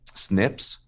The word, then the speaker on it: SNP: and this is what we would call um Snips or and that's SNP so single nucleotide polymorphisms